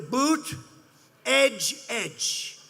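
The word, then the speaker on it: Buttigieg: here's what you do boot edge edge say edge like the edge of a building edge edge who that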